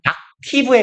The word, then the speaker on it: octave: 얘 옥타브라고 우리는 하는데 영어 발음은 악티브에 가까워요. 악티브, 악터브 정도로 발음합니다.